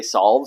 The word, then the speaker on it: salve: Some people say solve, some people say salve, some people say salve. So you pronounce it salve.